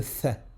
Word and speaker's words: ث: Le tha, sa prononciation est comme si on avait un cheveu sur la langue. On place la langue, on vient positionner la langue entre les dents du haut et les dents du bas.